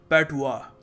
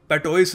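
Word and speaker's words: patois: इसको प्रोनाउंस करने का सही तरीका है पैटुआ. जी हाँ, पैटोइस नहीं है जैसे लिखा है यहाँ पर, हम इसको प्रोनाउंस करेंगे पैटुआ.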